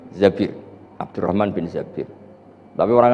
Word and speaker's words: Zabir: di di hadis ini bukan bacanya bukan zuber tapi Zabir Abdurrahman Bin Tsabit tapi